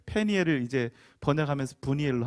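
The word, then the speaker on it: Peniel: 히브리식 발음으로 더 정확하게 발음하면 분이엘이 아니라 페니엘입니다. 페니엘. 페니엘을 이제 번역하면서 분이엘로 한 거예요.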